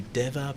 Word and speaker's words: Dewa: You're watching Good Morning Thailand, and I'd like to say a big thank you to Deva Beach Resort.